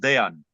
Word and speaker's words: Dejan: I'm just, so that people would pronounce it, because everybody's always asking me how to pronounce it, if it's with the J, because it's really pronounced Dejan.